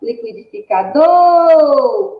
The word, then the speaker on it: liquidificador: Então, significa que a sílaba tônica da palavra liquidificador é do, porque é a que é pronunciada com maior intensidade.